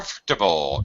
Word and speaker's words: comfortable: comfortable or com ah you say comfortable com comtable uh yes we this uh this is fairly common especially with vowel and r in the middle of a word very common to uh